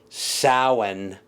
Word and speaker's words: Samhain: Celtic name for Halloween, it's spelled Samhain. If you read it, that's why you would say it. It's really pronounced Samhain if you were speaking Gaelic.